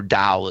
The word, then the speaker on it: Dao: Or Dao is the Chinese pronunciation, and the Chinese word Dao means path.